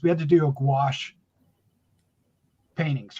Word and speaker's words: gouache: We had to do a gouache paintings, right?